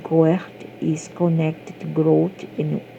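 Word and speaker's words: Gort: As we wander between this world and the next, God, pronounced Goert, is connected to growth and wildness, as well as confronting the mystical aspect of our own development and evolution.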